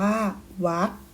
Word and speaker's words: วรรค: ว่า กรรม อ่าน ว่า กรรม วรรค อ่าน ว่า วัด อรรถ อัน ว่า อัด มี การ อ่าน คำ